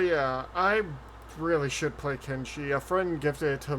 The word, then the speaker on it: Kenshi: It's actually thanks to Reggie I learned a lot about Kensei, or however you pronounce that one game. Kenshi?